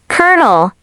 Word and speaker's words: colonel: Even native speakers pause at this one. Incorrect. Colonel. Correct. Colonel. Yes, like popcorn.